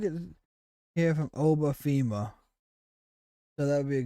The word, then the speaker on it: Femi: Oh, we get to hear from Oba Fema. So that would be a good one as well. If we go to Oba Fema. Or Femi. Femi, I think is how it's pronounced.